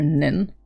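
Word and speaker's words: 人: person was you yes you can pronounce this as jin or nin now that depends on the context oh although bad examples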